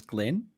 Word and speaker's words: Glyn: How do I pronounce his name? Because it's written Glyn, but I'm feeling like it's a Scottish way of writing Glenn. I asked Glenn, and I'm pretty sure it was Glenn. It's Glenn.